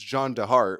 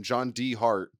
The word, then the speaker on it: John DeHart: Yeah, even though the D is spelled D-E, and you'd imagine it's John DeHart, which sounds way better. John DeHart is a way cooler name than his actual name, John D. Hart.